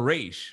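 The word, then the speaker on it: Ra's: it right or not is it raz or race right it's racial it's race in the cartoons right yeah racial cards even on the arrow tv show it was race they just had oliver queen call him roz because he's supposed to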